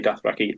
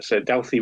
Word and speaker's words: Dauthi: Doesn't say Dathraki, I just can't pronounce that. Dalthy? Yeah, it's a Dalthy Rogue.